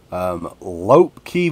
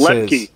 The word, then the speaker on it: Lepke: Lopke Vision Films. I'm probably not pronouncing that right, but that's okay because I'm from Eastern Kentucky. It's Lepke, but yeah.